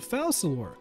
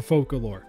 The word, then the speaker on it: Focalors: Honestly, her name's pronunciation is somewhat confusing, as it seems that the English pronunciation could be using the French dialect where it is Focalor, or we could use the traditional Latin pronunciation being Focalor. Oh, and the word foca is also Latin for seal. which is adorable, so I'm going for Focalore.